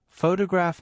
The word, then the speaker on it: photograph: For example, photograph noun is stressed on the first syllable, but photograph IC adjective is stressed on the third.